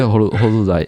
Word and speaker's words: हरूलाई: That part is actually an R sound. Oh, it’s an R sound? हरूलाई (Harulai)?